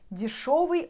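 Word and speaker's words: дешёвый: Instead of yo here, if you're writing spelling, you should spell like yo, but pronounce with o. You know, дешевый or дорогой, дорогой, дорогой, дорогой.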